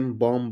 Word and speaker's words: balm: BALM बॉम, बॉम मतलब होता है मरहम।